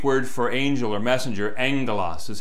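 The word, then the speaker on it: ἄγγελος: When you're reading your Greek and you come across gamma gamma, it's pronounced ng. So the Greek word for angel or messenger, angelos, is how you pronounce that.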